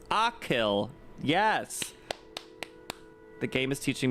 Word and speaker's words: Achill: Pronounce Achill.